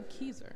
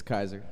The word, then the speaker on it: Kayser: Is it Kaiser or Keyser? It's Kaiser.